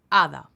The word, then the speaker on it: hada: Hada. H is silent.